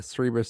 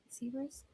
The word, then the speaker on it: Cerberus: Cerberus I think sounds wrong. it's Cerberus. Cerberus also is a multi-headed dog that guards the gates of the underworld to prevent the dead from leaving.